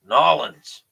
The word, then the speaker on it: New Orleans: right that's awesome uh most people say phonetically I was corrected local no oh no Orleans nawlins right okay New Orleans I